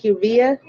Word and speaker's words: Kivia: Kivia, Kivia. That's how you pronounce it, Kivia.